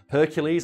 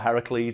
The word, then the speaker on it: Heracles: However, my favourite version of the myth, it says that it was invented by Hercules or Heracles, depending on how you want to pronounce it, during his fight with the Nemean lion.